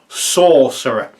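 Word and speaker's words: Saucerer: It's spelled S-A-U-C-E-R-O-R, Sorcerer. Like it's made of ketchup.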